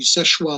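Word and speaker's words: Seul Choix: would have to be Seshwa Lighthouse in the northern reaches of Lake Michigan. It's spelled, if you look it up, Soelchoix, but it's French, so it's pronounced Seshwa.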